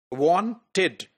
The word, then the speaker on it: wanted: So after voiceless d and after voice d, ed is pronounced as id. So it is started and it is wanted.